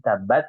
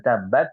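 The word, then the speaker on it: تبت: ada ada tasdid ya maka kita membacanya harus di apa ditahan tab bu tabbat tapi tab ya dengan menempelkan kedua bibir tabbat tabat ya jangan tabbat tapi tat seperti itu t Nah di sini juga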